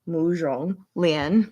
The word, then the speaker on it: Mu Zhonglian: Z, like Z, I don't know. But zhong, instead of wrong, mu zhong. Hopefully you understood that. We'll just go with ZSH. Like not sh, but not j either. Somewhere in between j and putting that in front. Muzhong Lian. So there we go.